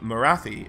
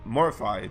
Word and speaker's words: Morathi: them are pupils of Morathi, or Morify, depending on your preferred pronunciation.